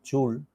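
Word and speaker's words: Joule: porque me parece interesante hay dos maneras de pronunciación porque el padre inglés y madre francesa entonces uno lo puede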